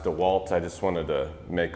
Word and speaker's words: DeWalt: I know it's pronounced DeWalt, I just wanted to make all you DeWalt freaks out there mad.